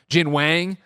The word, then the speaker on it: Jin Wang: says Jin Wang and you have to correct the pronunciation of you know it's like oh my God like for so many people that's the first time they're ever finding out watching this show that it's not weighing like oh my goodness